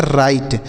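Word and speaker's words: write: इसे हम पढ़ते हैं राइट यहां पर जो डब्लू लिखा गया ना दोस्तों यहां पर डब्लू देख रहे हैं ना यह साइलेंट है इसे नहीं पढ़ते हैं तो राइट का अर्थ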